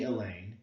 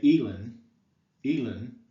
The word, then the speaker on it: Elaine: you say it um elain consists of an unstress syllable followed by a stressed one when you say aaine aloud the emphasis is on the second syllable right so you say Elaine a lane remember so you notice that the lane is the stressed part we don't say elen elen right that would be stressing the first syllable so we say Elaine